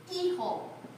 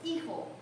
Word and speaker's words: hijo: So you're going to start and you're going to say el hijo. Hijo. Repite todos. Hijo. Hijo. Please do not say, you nunca pronuncia la H, otherwise you're going to sound like a donkey.